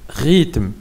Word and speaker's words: rythme: Rythme, un rythme, rythme. كاينه اش ما كنطقوش rythme.